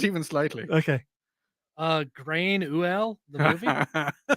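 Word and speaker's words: Gráinne Mhaol: Grain Uel, the movie. How do I actually pronounce that? That's pronounced Grania Whale.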